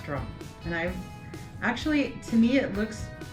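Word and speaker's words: Rathdrum: it is mispronounced sometimes rrum um is how you pronounce it in case you're having trouble with it I don't know if it's the th and the D put together that people fumble over but rrom okay let's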